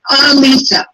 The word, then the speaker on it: Alisa: Am I pronouncing her name right? You did a couple of times. It's Alisa. Alisa.